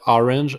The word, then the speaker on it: orange: Orange, exact same way of English, but the pronunciation is a little bit different. Instead of orange is orange. So make the pronunciation R with the throat. So orange, orange.